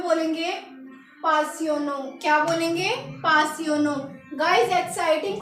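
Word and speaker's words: passionnant: यूज़ करना है तो हम फ्रेंच में बोलेंगे पासियोनो। क्या बोलेंगे? पासियोनो। गाइस एक्साइटिंग को लिखना है ऐसे, ये है इसकी प्रोनाउंसिएशन, इसको हम पढ़ेंगे पासियोनो, पासियोनो।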